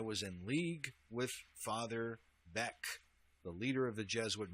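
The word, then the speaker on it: Beckx: However, if you look up this Father Beck, his name is actually spelled Bex, B-E-C-K-X.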